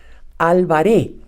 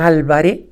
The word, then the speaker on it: Alvaré: en inglés con Helen alvaré todos los norteamericanos pronuncian Álvarez pero su apellido es con un acento en la e y sin seta final O sea no es Álvarez cualquiera de ustedes que